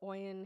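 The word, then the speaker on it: Oyin: Oen. Oen. Oen. Oen. Oen. How do you spell that?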